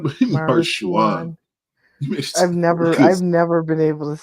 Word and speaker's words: Maruchan: I think it's like Maruchan or something like that, but Marshuan.